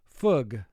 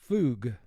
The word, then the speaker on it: fug: If you had OO underlined once, the OO would represent its sound oo, and the word would be pronounced foog. But because OO is double underlined, you use the second sound for OO as a team, which is fug.